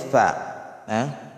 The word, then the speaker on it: ف: Ang kasunod dito ay fa. Fa. Fa. Fa. Hindi po pa. Hindi po pwedeng bigkasin ang fa na pa. Mali po.